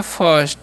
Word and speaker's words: first: FIRST है, तो इसे हम लोग पढ़ते हैं फर्स्ट। ठीक है। और फर्स्ट मतलब होता क्या है, तो प्रथम होता है। इसे फीस्ट नहीं पढ़ना, आई का उच्चारण यहाँ पर अ होता है।